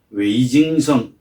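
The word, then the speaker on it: 魏京生: 그런데 문제는 그 중국 반체제 민주 인사는 미국에 있는 중국 민주화 운동의 상징적 인물이라고 할 수 있는 위경생, 중국 발음으로는 웨이징성 선생, 그 정도로 유명하고 알려진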